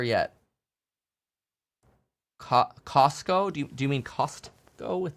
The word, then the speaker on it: Costco: Do you mean Costco with the T that nobody pronounces?